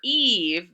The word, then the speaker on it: Eve: The E at the end only is silent, doesn't say anything. And then for Eve, the first E says its name, the long vowel E sound.